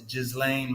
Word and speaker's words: Ghislaine: It's Ghislaine Maxwell. Did he spell it Just right?